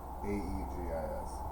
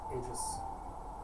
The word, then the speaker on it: aegis: it's spelled i know a-e-g-i-s it's like gift jiff vegas aegis well there's not you